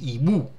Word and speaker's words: hibou: This one is a silent, I don't pronounce it. Okay, so I say hibou.